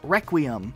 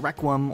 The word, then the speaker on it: Requiem: oh and I and the planet in Halo 4 is pronounced Requiem not Requiem or wreck UUM this vehicle is not